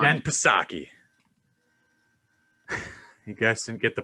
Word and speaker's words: Psaki: I said we'll circle back like Jen Psaki, guys. Joe Biden's press secretary that circle backs. I think the P is silent.